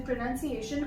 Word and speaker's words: pronunciation: So we generally tend to say pronunciation. It's not pronunciation, it's pronunciation.